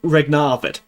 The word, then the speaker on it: regnavit: Regnavit. Regnavit. Like the e and the a. There's there's a bit more stress on that.